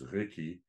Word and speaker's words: geki: For example, the English word cake is borrowed into Kikuyu as what's written as geki is pronounced as reki.